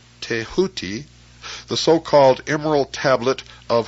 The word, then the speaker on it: Thoth: scribe of the gods Thoth, pronounced Teahuti, the so-called emerald tablet